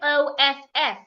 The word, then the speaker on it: of: The f there sounds like a v of. But when you have the word o ff, the two fs sounds like a f off. So these two words aren't pronounced the same way. Off. Off. Oh. The one with one f makes the vv sound.